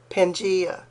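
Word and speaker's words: Pangaea: Even evolutionists agree that the country this world once had a superc continent called pangia. Actually, that's pronounced pangia.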